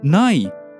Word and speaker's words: ない: So, ない is pronounced high.